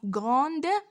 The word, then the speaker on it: grand: Et finalement, nous avons grande. Son adjectif masculin, c'est grand. Grand. On ne dit pas grande, non, c'est grand. Alors, comme vous voyez, D aussi se prononce pas, donc elle est muette.